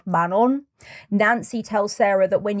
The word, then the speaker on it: Manon: and they tell her about this deity called Manon which I spent a large chunk of my life thinking was manol because they pronounce it so weirdly it's actually man on